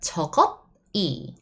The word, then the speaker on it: 저것이: No, we write it down that way, yes. However, we pronounce it much smoother. 저것이. This bottom consonant travels next. So that 저것이. That's how you need to pronounce.